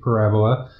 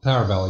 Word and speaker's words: Parable: from the makers of Stanley Parabola. Or how do you say Parable? Parable, yeah. Parable, like a Bible, a parable.